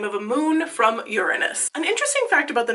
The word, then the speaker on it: Uranus: on television and so they decided to officially change the pronunciation of Uranus to Uranus um the more you